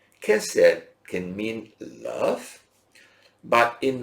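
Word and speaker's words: chesed: kind of I give you the word we pronounce it as Cosette but it spelled c-- h e s e d casa can mean love but in when you say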